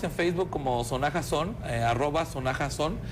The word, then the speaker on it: Sonaxa: Sí, estamos en Facebook como Sonaja Son, @Sonaja Son, es SONAXA, Sonaxa, pero se pronuncia la X como la J en México, Sonaja.